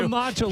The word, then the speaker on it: matcha: Like, why are they offering protein to get a matcha latte? Hey, I don't need to have 26 g of protein. How do you say that? Matcha. Oh, matcha.